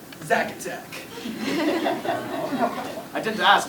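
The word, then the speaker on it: Czak: Zack, is that your name? No. C Z A K. Zach.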